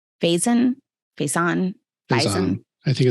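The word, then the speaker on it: Faison: how do you say his last name fazen face on I think it's funny yeah f-a-i-s-o-n he played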